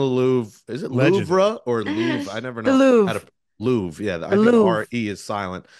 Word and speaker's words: Louvre: Is it Louvre or Louvre? I never know. The Louvre. How to Louvre. Yeah, I The think Louvre. R-E is silent.